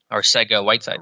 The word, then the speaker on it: Arcega-Whiteside: that, look, they have JJ, how do you pronounce his last name? Arcega-Whiteside.